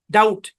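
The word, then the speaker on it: doubt: ইউ বি টি ডাউট বানান করার সময় বি বললেন কিন্তু উচ্চারণের সময় করলেন না একদম সেট করে নিতে হবে ডাউট ডাউট ডাউট ডাউট ঠিক আছে ডাউট শব্দের মধ্যে বি সাইলেন্ট ওকে তারপরে দেখি খেয়াল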